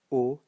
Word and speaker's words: eau: So it's pronounced O, and these ones are pronounced O as well. So gâteau, eau, beau.